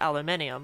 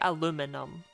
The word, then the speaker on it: aluminum: you spell it aluminum but you do still pronounce it aluminium like we do over here right no you don't actually say aluminum like like unironically right I'm just going for